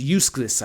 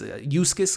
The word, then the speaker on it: Uxas: And he's Uxas, I believe is how you pronounce it. He's the young Darkseid. Before he's full Darkseid, he's Uxas, I think is how you pronounce the name, if I'm not mistaken.